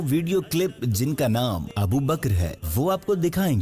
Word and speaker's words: ابو بکر: بھی عرض کیا تھا، ابو بکر نہیں ہے تلفظ، کہ بچے سارا ابو بکر بول رہے تھے تو یہ پچھلا ہی تھا نا شاید۔ ابو بکر کاف جو ہے نا ساکن ہے، ابو بکر حضرت ابو بکر صدیق